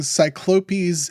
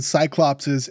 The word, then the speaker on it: cyclopes: From my understanding, cyclopes is the correct way to say it and cyclopses is just sort of how like language and like pop culture has said it for years.